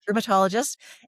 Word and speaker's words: rheumatologist: And then about 6 months later, I saw my I can't say it right, rheumatologist. That's the correct way to say it, rheumatologist.